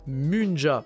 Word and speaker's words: Munja: vous allez progressivement comprendre pourquoi déjà ça se prononce bien Munja puisque ce nom vient de la mu c'est-à-dire